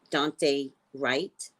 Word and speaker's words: Dante Wright: Pronounce his name right. Dante Wright.